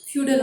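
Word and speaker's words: feudal: Okay, you can pronounce it एज फ्यूडल also.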